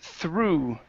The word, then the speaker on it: through: you go excellent okay this word right here is pronounced through the uh o u g here is an oo sound okay so this is